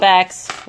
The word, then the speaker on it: Spax: And I use primarily pocket screws for this and some spacks here and there. Nice. All right, so Spax right there. not Spanx, but Spacks.